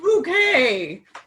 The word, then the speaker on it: Bucket: It's pronounced bouquet.